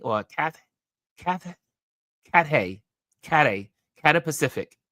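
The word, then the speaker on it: Cathay Pacific: cath Kath cat Kat Kata Pacific that's how you say Kata Pacific is what Lisa mentioned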